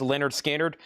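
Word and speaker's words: Lynyrd Skynyrd: and Leonard Skard pronounced Leonard Skard VG minus $9.99.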